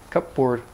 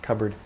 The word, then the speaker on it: cupboard: cabinet British still say cupboard cut board or shortened to cupboard in pronunciation cupboard a flashlight in American